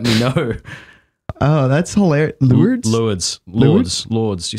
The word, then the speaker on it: Lourdes: Lourdes. Okay. How do you say it? Lourdes.